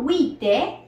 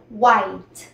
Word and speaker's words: White: la siguiente es blanco blanco se dice no Wi sino White White White Yo sé